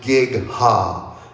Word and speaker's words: Gigha: But it's pronounced Gigha.